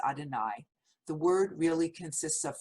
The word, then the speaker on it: Adonai: Though we pronounce these letters, known as the Tetragrammaton, as Adonai, the word really consists of four vowel-like sounds, sometimes pronounced by non-Jews as Yahweh or Jehovah.